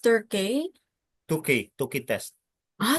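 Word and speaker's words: Tukey: It's pronounced Turkey.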